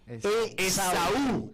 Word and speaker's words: Esaú: Esaú, en realidad, con un acento en la U.